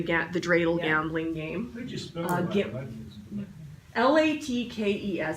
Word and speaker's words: latkes: the dreidel gambling game la tkes some people pronounce it Black Keys but my family we always pronounced it latkes so I'm not real